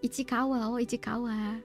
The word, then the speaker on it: Ichikawa: Cara bacanya itu ya, Ichikawa.